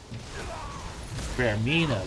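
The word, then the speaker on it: Vaermina: Vermina, that's how you say her name.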